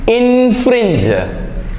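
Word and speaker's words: infringe: ആ ഐ എൻ എഫ് ആർ ഐ എൻ ജി ഇൻഫ്രിഞ്ച് ഇൻഫ്രിഞ്ച് ഇൻഫ്രിഞ്ച് ചെയ്യുക എന്ന് പറഞ്ഞാൽ വേറൊരാളുടെ ഇതിലേക്ക് നമ്മൾ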